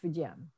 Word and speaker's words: Fujian: The newer spelling, the Pinyin spelling is Fujian, but it's all pronounced Fujian.